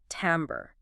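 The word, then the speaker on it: timbre: That French influence which gives us that slightly nasalized am sound is key. Tambber tambber describes the unique quality, color or texture of a musical sound or importantly a voice.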